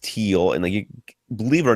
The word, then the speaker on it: Thiel: Fred did let us know that Thiel is pronounced teal, and believe it or not, I did know that. I just forgot. It's a German word. That's why you have to. It's a silent H.